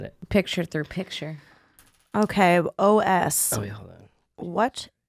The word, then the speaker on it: Oss: It's spelled OSS. Os. Os.